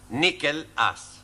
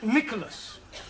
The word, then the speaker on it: Nicholas: upon a time there was a man called nickel us once upon a time there was a woman called nickel it's pronounced Nicholas all right once upon a time there was